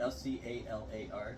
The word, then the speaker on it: scalar: S-C-A-L-A-R, scalar?